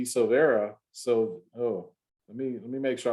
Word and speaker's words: Silvera: Silvera? Did I say it right the first time? Silvera? Yes, you did. Okay, I thought maybe it was Silveira or something like that.